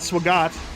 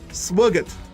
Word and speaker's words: Swagat: from a restaurant called Swagat sorry I the the chick from India keeps yelling at me for mispronouncing it I pronouncing it like an American gee I wonder why that is SWOT we're getting food from